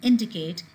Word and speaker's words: indicate: So here you see these verbs which are ending in 8 as in complicate and indicate, the stress is always on the first syllable.